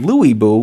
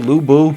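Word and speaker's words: Lü Bu: luu or Italian man Lou bu Lou Bo Lou bu is attacking pu with Lou Lou bu's Reckless braver at least they were consistent every character that said Lou Buu said it incorrectly so okay every character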